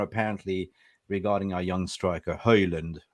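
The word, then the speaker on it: Haaland: regarding our young striker Holland Holland we're gonna we're gonna teach you how to say the name hey learned how can we do it no it's no no D at the end okay Dan then follow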